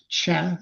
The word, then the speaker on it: Cseh: I usually play a little game where I ask people to guess, but so it's just chess, or Chad like chess or Czech, but stop after the E.